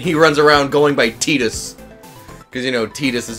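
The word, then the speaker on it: Tidus: like Titus and he runs around going by teetus because you know t-this is apparently the proper pronunciation gotta go cheer for me hey I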